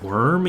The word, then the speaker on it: wyrm: You know it's pronounced worm even if you spell it with a Y.